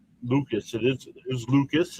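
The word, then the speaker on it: Lukes: It is is Lucas. It's spelled L U K E S.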